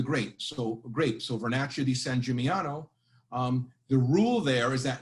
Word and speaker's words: San Gimignano: So for example, we talked about San Gimignano, and I put the phonetic pronunciation there, Gimignano. And it's a hill town in Tuscany, we know that.